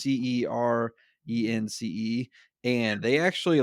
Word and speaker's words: Cerence: company called, I don't even know how to pronounce them, Cerence. It's Cernce.